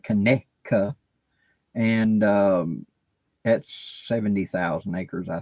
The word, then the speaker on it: Conecuh: is Conecuh National Forest, which some people may pronounce it Conecuh, but how it's spelled, but we call it Conecuh.